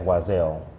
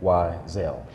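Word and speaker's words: Y'Zell: And so I went in that year as YZell. Mm-hmm. And then eventually I put an apostrophe between the Y and the Z. Okay. So that people can say phonetically YZell.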